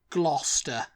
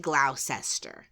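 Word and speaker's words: Gloucester: and it that is you want to say it gluster gluster yeah gluster and where is gluster by the way in glou in gler Shire gler Shire yeah yeah um yeah glow I think I would have said glow sester which doesn't really make sense glower why would the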